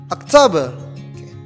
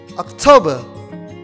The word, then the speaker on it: October: the next month is october october the syllable is in the second syllable okay october october let's say together